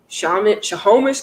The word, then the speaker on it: Snohomish: Snohomish County, 48.